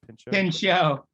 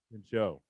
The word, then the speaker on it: Pinchot: Do you know how to pronounce this guy's name? Pin show. Pinchot.